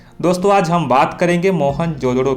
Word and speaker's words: मोहनजोदड़ो: जिले में स्थित है मोहन जोदड़ो का सही उच्चारण है मोहन जोड़ो इसकी खोज रखलदास बनर्जी